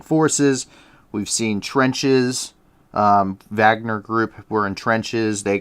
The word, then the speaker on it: Wagner: it spelled wagner um that w is just pronounced as a v but um for our